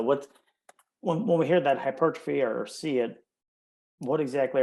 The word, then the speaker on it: hypertrophy: say it properly because it's felt like hyper and then the word trophy so hypertrophy um but i always